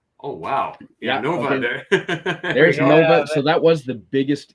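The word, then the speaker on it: 円: the Japanese symbol for n or we say Yen but they pronounce it n and my pronunciation is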